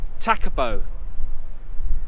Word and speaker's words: Tekapo: this oh and we found out how to pronounce the place it's not always thinking it's takubo yeah so it's the married it's the merry